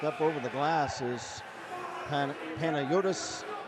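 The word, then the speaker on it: Panagiotis: Chopping the puck up over the glass is Panayotis Kanelos. Panayotis spelled P-A-N-A-G-I-O-T-I-S.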